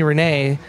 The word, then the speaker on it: Renny: And they said, hey, you shouldn't pronounce a French name like that. Change it back to like its original pronunciation. So they started calling me Renee. So yeah, that's how I became Renee. And then I decided to go back with Renny for, it's just easier to say, I guess.